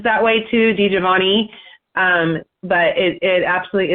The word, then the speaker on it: DiGiovanna: death oh wow um did you pronounce his last name for me D javana so d i d i g i o v n n a a lot of people put an i at the end I've heard it pronounced